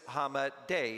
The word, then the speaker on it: Hamadeh: So I asked somebody, is it pronounced Hamadah, Hamadeh? What is the correct pronunciation? And they said it was Hamadeh.